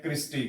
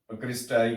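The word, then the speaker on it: cristae: इनको क्या कहते हैं, क्रिस्टी कहते हैं, क्रिस्टाई कहते हैं या क्रिस्टी, जैसे भी आप इनको जो है ना वो प्रोनाउंसिएट कर लें।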